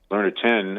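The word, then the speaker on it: Learner Tien: Learner 10, I believe, is how you pronounce his name.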